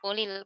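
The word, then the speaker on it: قل الحمد: Jadi bagaimana cara membacanya? Ulil. Eh. Benar, "kulil," tepat sekali, diberikan kasra.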